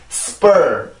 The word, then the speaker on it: spur: 이렇게 들리게 되는데 왜 그러냐면 지금 S 다음에 나오는 P, S 다음에 만약에 P가 나오게 되면 이 P 소리는 원래의 소리를 잃고 된 소리로 바뀌게 돼요. 원래 P 발음으로 발음을 하면 per 이렇게 발음이 되는데 S 발음이랑 같이 발음이 되면 spur 이렇게 소리가 바뀌게 됩니다.